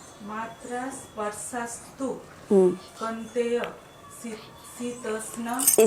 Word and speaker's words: शीतोष्ण: आगमनी में मात्रा स्पर्शस्तु कौन्तेय शीतोष्ण। सी है कि क्या है? शी, SHE इंग्लिश में शी।